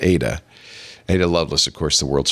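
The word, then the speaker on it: Ai-Da: of ADA Loveless a i d but it's pronounced Ada aah Loveless of course the world's first computer programmer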